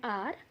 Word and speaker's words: hour: You can see these four in these four words h is silent and vowel sound is coming.